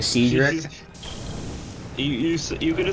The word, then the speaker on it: Cedric: you say his name you nearly said it right it's Cedric oh Cedric yeah you kind